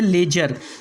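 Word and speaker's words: ledger: उसके बाद में दूसरा वर्ड है लेजर, यहाँ भी डी को नहीं पढ़ना है।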